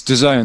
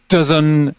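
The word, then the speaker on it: DAZN: to A-list Talent saying how do you pronounce the Zone they were going dozen or Datsun it's like no one really knows and it's I think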